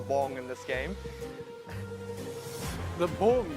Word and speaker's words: Bbong: The Bbong, you got to say it properly. It's got 2 B's.